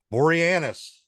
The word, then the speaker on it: Boreanaz: Boreanaz.